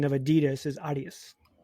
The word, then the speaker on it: Adidas: Adidas for those in America.